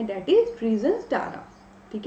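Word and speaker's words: Tzara: दोस्तों हमारे सामने ट्रिजन स्टारा ठीक है या पे इसे रीजन सारा भी कह सकते हैं टी आप यहां पे साइलेंट कर सकते हैं आप अपने अकॉर्डिंग पढ़ सकते हैं आई विल रेड इट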